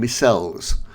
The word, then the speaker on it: micelles: Then self-organisation can take a big step further, with groups of fatty acids forming spherical structures called micelles, or Micelles, someone pronounces it.